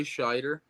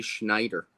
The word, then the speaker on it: Scheider: Up until right before we did this episode, I always pronounced his name Roy Schneider. I thought it was too. When I was reading it, I almost said Schneider and stopped myself. Yeah, then I realized that there's no N, and I'm like, oh, okay, it's just Scheider?